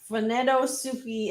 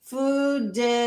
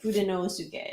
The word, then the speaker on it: Fudenosuke: Nut Dealer says, Funedosuke is pronounced Fudenosuke. Fudenosuke. Fudenosuke. Where the lower case letters are less emphasized.